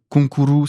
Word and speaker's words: Konkuru: Et aussi, un autre truc, c'est que Konkuru, c'est concours, avec la prononciation japonaise.